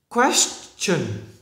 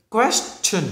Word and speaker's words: question: ta không đọc là sin này mà phải đọc là chỉnh, chỉnh, chỉnh, chỉnh. Này là cái này là question, question.